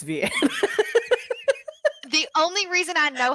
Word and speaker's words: Vianne: I just discovered that her name was not Vivian and it's Vianne.